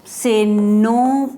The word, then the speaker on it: nos: Mais on ne prononce pas S. Quand on fait la prononciation, on ne prononce pas S. Ça reste en silence ici.